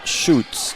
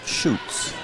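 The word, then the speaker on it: Schutz: to pronounce it Hana shoots number 24 checks in okay spelled s c Hu TZ I was told to pronounce it shoots how old how old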